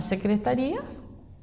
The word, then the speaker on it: secretaria: Então, aqui não há acento na secretaria, eu tirei a terceira. Nós falamos secretaria ou secretaria? Secretari. Então, a sílaba tônica é o ri.